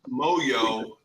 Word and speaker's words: Mojo: It's pronounced Moyo.